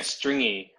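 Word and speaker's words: stringi: i saw that and this is how to pronounce it yeah stringy like they have a y and there's like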